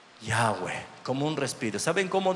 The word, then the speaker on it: Yahweh: Porque, ¿vio cómo se escribe Yahweh? Es Y-H-W-H, no tiene vocales. Pero ¿sabe cómo se pronunciaría? Como un respiro. Yahweh, como un respiro.